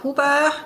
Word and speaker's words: Huber: on LinkedIn as huba and thanks for pronouncing my name in German today it's usually uh anything but German on most podcasts so that's that's lovely